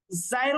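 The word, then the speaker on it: ز: জায়ের উচ্চারণ ঠিকঠাক করতে হবে, ঝা এমন না, জা সদ সিন সা।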